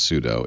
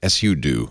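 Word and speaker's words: sudo: root using suo I'm I know it's not supposed to be pronounced pseudo it's just so tempting Su do I think is how the Linux Unix gurus pronounce it the want to make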